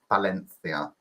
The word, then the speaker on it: Valencia: Pronounced, I've been told, Valencia. Because my friend's from there.